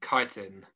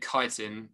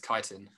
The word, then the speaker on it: chitin: So your teacher pronounces it chitin with a ch. Chitin? Nah, they're definitely not saying it right. It's chitin.